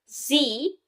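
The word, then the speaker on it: 嘻: Xi, pronounced like she, which connects the whole body.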